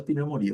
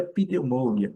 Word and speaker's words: pneumonia: É a nossa pneumonia. O que nós não podemos falar é pneumônia, não pneumônia. E ok, tá mais tranquilo. É só mesmo lembrar que o P não é pronunciado.